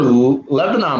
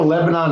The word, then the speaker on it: Lebanon: we do have the lebanon new york they might not be spelled the same though but it's the o is kind of silent oh yeah i'm totally